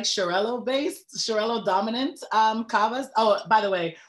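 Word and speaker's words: Xarel·lo: macabeo than anything and i tend to like shirello based shirello dominant um oh by the way that x x a r e l dot r o that grape is pronounced charello um working in the wine shop i have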